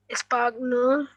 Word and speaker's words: espagnol: Chino, Chinois, chinos, chinois, chinois, chinois, and chi, noise, chinois, chinoise, American, Espagnol, Espagnol, G is silent.